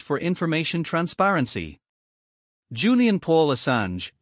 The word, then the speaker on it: Assange: Julian Paul Assange, pronounced /SN/Sange, originally named Hawkins, was born on the 3rd of July 1971.